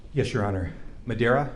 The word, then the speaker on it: Medaria: spelling each of your names yes your honor madeira first name is spelled m-e-d last name is mr slusher